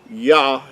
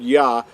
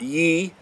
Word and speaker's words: Yah: Yah is how you would pronounce these first two letters right here. The word yah is how the first two letters of the creator's name are pronounced. They're not ye, they're yah.